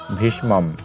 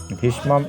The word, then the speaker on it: ভীষ্মম: মূর্ধন্য মটি একটি আছে দেখো যে যুক্তবর্ণ এটিকে বিভাজন করলে আমরা পেয়ে যাচ্ছি মূর্ধন্য সসন্ত যোগ আসলে ম পেয়ে যাচ্ছি তারপর আরেকটি মেরে ম লিখেছি তাহলে আমরা এর উচ্চারণটি পেয়ে যাচ্ছি দেখো যে ভীষ্মম ভীষ্মম এব এটি ঠিক থাকলো